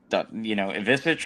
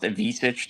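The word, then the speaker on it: Ivišić: my gosh, can we, Ivisic for them? it drives me crazy because it's not pronounced Avicic the same way it is for they have in Arkansas, but like he took 12 threes.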